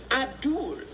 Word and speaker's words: Abdul: When I asked how to pronounce his name, he said, Abdul, like Paula.